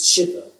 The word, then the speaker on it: sídhe: I argue now, that the fairies the word 'sídhe' is ahm, it's you know it's spelled s-í-d-h-e or s-í-d-e, s-í-d-e in Old Irish, s-i-d-h-e in Middle Irish which is 'Shideh' to pronounce it.